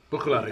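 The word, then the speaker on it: Bruichladdich: I've learned how to pronounce it. You've taught me. Brooklady.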